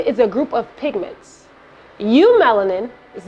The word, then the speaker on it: eumelanin: name comes from and it's eu melanin but it's pronounced you melanin would you say that